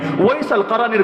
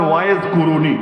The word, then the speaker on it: ওয়াইস আল কারানি: ওয়াইস আল কারানির ঘটনা কে না জানে? যারা বাংলায় আপনারা বলেন ওয়াইজ কুরুনি, ওয়াইজ কুরুনি ভুল উচ্চারণ, মূল হলো ওয়াইস আল কারানি।